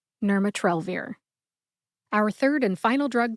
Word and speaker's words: nirmatrelvir: you get nmat trir emphasize Nur and trell trell gets the most emphasis we also call this the primary emphasis you emphasize it the most see if you can hear it when I say it slowly nurat trir nurat trir and quickly nurat trir our third and final